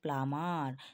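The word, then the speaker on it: plumber: তারপর দেখো প্লাম্বার প্লাম্বার কিন্তু প্লাম্বার আমরা বলবো না কি বলবো প্লামার ঠিক আছে প্লাম আর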